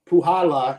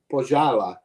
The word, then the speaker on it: Puhala: All right, so yeah, let me get a little bit more of the Puhala as miscellaneous gave me the correct pronunciation. Puhala. I think I was saying Pojala.